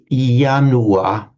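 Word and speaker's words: ianua: It's like a a symbolic almost a symbolic ritualistic right when we pronounce yanua in Latin.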